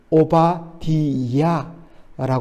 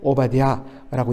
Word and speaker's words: 오바디야: 원래는 오바디야라고 발음하는 것이 옳습니다. 그런데 이것을 줄여서 오바댜라고 이야기하죠.